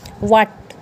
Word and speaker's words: what: करेंगे, वो रूल है, अगर वर्ड आपका स्टार्ट होता है WH से तो एच को क्या कर देंगे, साइलेंट। तो WH से स्टार्ट होता है तो उसको साइलेंट, जैसे व्हाट, वाई, वैन, वाइट। तो WHAT क्या हो गया, व्हाट।